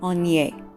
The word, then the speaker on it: Aigner: as I said before, my mom pronounced it Aigner, which again is fine. But to say it with a French pronunciation, it would be Aigner. Now, as you can see, it has the AI and then that G. So of course, English speakers are used to saying that G, and you have to